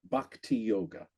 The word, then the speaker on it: bhakti yoga: And you mentioned, again, a slight correction on pronunciation. It's bhakti yoga.